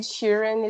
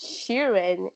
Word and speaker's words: Sheeran: And because it's Sheeran, it's when it's pronounced really fast, it sounds like Shirley.